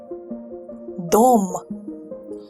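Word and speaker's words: дом: how to say home in Russia ready dolma dome this is and now and here is what it looks like in a dictionary let's pronounce the dictionary form again dome this word can be translated as home or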